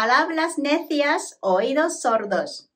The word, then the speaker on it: palabras necias, oídos sordos: 最後に、字幕なしで発音してみましょう。パラブラス・ネシアス、オイドス・ソルドス。